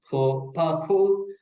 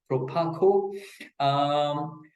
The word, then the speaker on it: Proparco: Key examples will be the British International Investment, BII, or for PARCO, that's the French pronunciation for people who know it as Proparco, but it is Proparco.